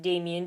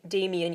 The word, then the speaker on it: Demian: German character names but what I have heard is it's Dam Damian even though it's spelled Demian it is a Coming